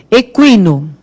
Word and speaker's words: equino: Equino. Aí o U tem som, né?